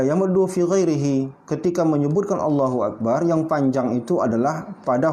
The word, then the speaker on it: Allahu Akbar: Allahu Akbar, salah. Yang benar cuma satu saja. Cuma lamnya yang panjang. Allahu Akbar.